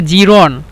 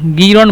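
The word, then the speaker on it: جيران: এভাবে এভাবে বলে তারপরে জিরন জিরন মানে হলো প্রতিবেশী মানে পা প্রতিবেশী জিরন মানে হলো প্রতিবেশী তো জিরন কে মিশুরা গিরন বলে এবং জিরন বলে প্রতিবেশী জিরন অথবা গিরন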